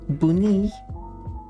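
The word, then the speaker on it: بني: The Arabic word for the color brown is buni, which is pronounced like bunny, but you emphasize the second syllable.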